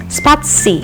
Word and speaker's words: spatie: Ie, pronounced "i" like in the word "ikan", or "spatie" which in Dutch means space.